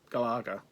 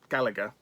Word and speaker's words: Galaga: and you put in galaga gallagher it's they say galaga it's galaga gal laga there's no galar there's no gallagher it's galaga anyway here's galaga gallagher